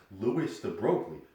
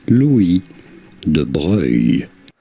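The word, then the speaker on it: Louis de Broglie: looking at it you assume that it was pronounced lewis the broglie you would be normal you would also be incorrect his name is pronounced louis de blair louis the boy like that so what mr french guy did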